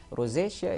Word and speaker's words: rosacea: What is the difference between sensitive skin skin and rosacea in terms of symptoms? Did I pronounce that right?